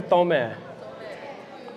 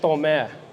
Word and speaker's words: Tomé: Is it Tomé or Tomé? I don't know. Back in my day, it was pronounced Tomé. But I can say it like a white boy would, Tomé.